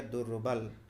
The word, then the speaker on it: दुर्बल: अभी बोले ना विसर्ग, ये जो है इसके जगह पर आपका र के उच्चारण हो जाता है, र हलंत, पूरा नहीं आधा र, तो इसीलिए यहाँ पर देखिए हो गया दुर्बल।